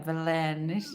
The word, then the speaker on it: Belenenses: é que non sei pronunciar Belenes, Belenenses. Belenenses, non sei dicir. Belenenses, muito bem.